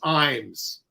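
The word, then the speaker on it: Ijames: viewer Andrew of California the correct pronunciation of the playwright of fat ham is James Iams okay and Alex Newell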